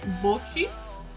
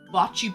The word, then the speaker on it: bocce: Bocce or like bocce? People just say like with the English accent, they just say like bocce ball. But I guess it's technically pronounced like bocce.